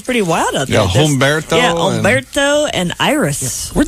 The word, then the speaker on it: Humberto: Where'd they get Umberto? I mean, I'm sure it's a beautiful name, but don't they? H. Umberto. Yeah, with an H. But the H is silent.